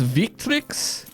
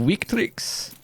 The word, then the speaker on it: Victrix: the value of that so this is pronounced victrix instead of weak tricks i cannot i'm never